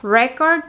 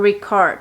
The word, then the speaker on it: record: significado es completamente diferente únicamente determinando Dónde está el sonido de la vocal más fuerte entonces record haciendo énfasis en la primera sílaba quiere decir pruebas evidencias y es eso no record y record quiere decir grabar haciendo énfasis en la